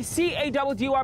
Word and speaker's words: Caddy: It's your boy C-A-D-D-Y, pronounced Caddy, yet again on another